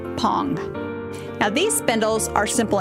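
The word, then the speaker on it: phang: yarn now pong yes p-h-a-n-g is pronounced pong now these spindles are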